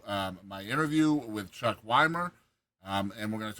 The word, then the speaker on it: Wimer: Is it Is it Wymer?